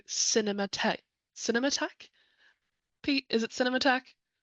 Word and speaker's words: Cinematheque: Pete, is it Cinematheque?